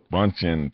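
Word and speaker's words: Bündchen: Bundchen, 34.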